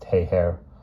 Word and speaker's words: Geiger: Caracas with the incredible name of Geiger pronounced heiher hey her told him